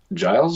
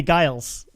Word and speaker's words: Giles: that's cool well um say my name then uh giles yeah i don't know the amount the amount of people that come on the show call me guiles yeah so thank you